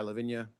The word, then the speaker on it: La Vigne: Uh, technically it is pronounced Lavine, but for reasons I go by Levvenia.